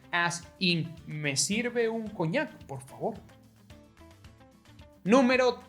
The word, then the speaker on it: coñac: Well, do you know the word cognac? That's the sound, cognac. Actually, for Spanish, cognac is written cognac, as in me sirve un cognac, por favor.